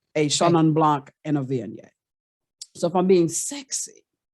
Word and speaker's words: Viognier: You spell Viognier, Viogner, but it's pronounced Viognier.